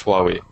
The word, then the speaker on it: Huawei: that um the second is apple that is huawei which is a chinese mobile company wow um are you sure you're pronouncing it right is it far away or is it it is huawei dammit i can never pronounce it i'm chinese